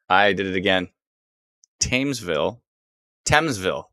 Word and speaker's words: Thamesville: hmm fame uh not i did it again thamesville thamesville not tames yes t-h-a-m-e-s otherwise pronounced teams oh no thames why is there